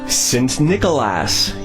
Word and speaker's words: Sint Nicolaas: Welcome to Sint Nicolaas. Yep, that is actually how it's pronounced.